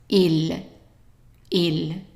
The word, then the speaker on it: il: talk about pronunciation first I is pronounced e e so the whole thing here would be right ill okay and then the